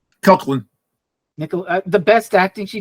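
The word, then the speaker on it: Coughlan: How do you say her last name? Coughlin.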